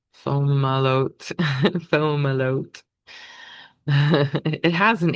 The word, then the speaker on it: Fomalhaut: So the moon conjunct Fomalhaut, Fomalhaut. It has an H in it, so that's hard to actually pronounce. Fomalhaut.